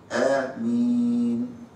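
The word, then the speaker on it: آمين: من قال ان ايه تتمد ست حركات؟ الجمهور على انها تنطق ده بيسموه مد بدل. المد فيه حركتين بس مش ست. فنقول امين مد مين زي ما انت عايز. معاك اثنين اربعة ستة يبقى تنطق امين امين امين.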